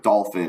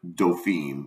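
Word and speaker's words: dauphin: By the way, dolphin is Huck's mispronunciation of the word doofine, which is prince in French.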